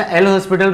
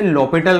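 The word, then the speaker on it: L'Hôpital: अच्छा, एल हॉस्पिटल rule को actually बोलते हैं लॉपिटल रूल बोलते हैं, लॉपिटल रूल से ही प्रोनाउंस करते हैं।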